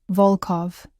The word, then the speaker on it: Volkov: Volkov, the O sounds deep and round.